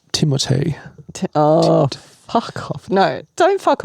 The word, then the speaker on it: Timothée: Apparently, I saw an interview. It's pronounced Timothée.